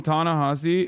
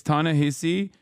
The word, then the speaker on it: Ta-Nehisi: Please don't call him Ta-Nehisi. It's Ta-Nehisi. No, you're wrong. No, Ta-Nehisi is the way you're supposed to say his name.